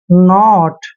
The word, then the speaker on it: knot: जैसा है, देखिए KNOT, देखिए जहां भी एन से पहले के आता है वहां पे के हमेशा साइलेंट रखना है, एन का उच्चारण हम न करते हैं, ओ को ओ की मात्रा पढ़ते हैं से, और टी को टे पढ़ना है।